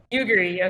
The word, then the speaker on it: Yugiri: Is it like Yuguri or Yugiri, something? yes. Yuguri, okay.